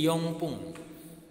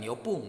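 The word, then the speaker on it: 四分: Kecuali untuk menit ya, jadi yongpung. Yongpung kayak gitu. Hai. Bukan yopung, tapi yongpung.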